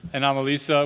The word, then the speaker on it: Anomalisa: Anomalisa, which was nominated for an Oscar.